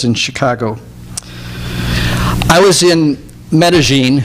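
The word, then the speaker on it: Medellín: Chicago I was in Medellin which you may call Medellin but they actually pronounce it Medellin in Colombia two years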